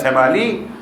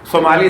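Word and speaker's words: ثمالی: میں اکثر امام کی ایک دعا کا تذکرہ کرتا ہوں, دعائے ابو حمزہ, یہ صومالی یا سمالی, صومالی زیادہ بہتر ہے تلفظ.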